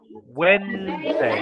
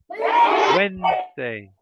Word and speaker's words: Wednesday: so we say Wednesday it's two syllables Wednesday yes Wednesday very good yes so